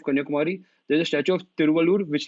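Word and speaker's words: Thiruvalluvar: a like temple there and a statue of Tilamur. Wait, let me pronounce this guy's name right, because that's important. Tiruvallur statue. So then, as you reach the southernmost point of Kanyakumari, there's a statue of Tiruvallur, which like you can see, and the statue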